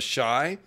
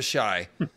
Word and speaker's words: Asshai: to the origins of shy which um I'm pretty sure it's pronounced like acai it's a warning against